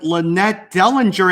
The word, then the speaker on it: LaNette Dellinger: I am here with LaNette Dellinger. Am I pronouncing this right, LaNette? Yes, perfect, Tommy.